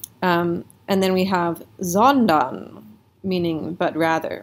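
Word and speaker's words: sondern: rather right so zondon it's really tempting to think that this that this is an f right um but if you uh the more experience you have with your vocabulary you'll know that fondon is not a word fonda there's no there's just it's just nonsense so you think to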